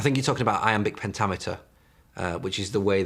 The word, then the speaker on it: pentameter: I think you're talking about amic pentameter. Uh, which is the way that kind of amic pentimeter. Pentameter.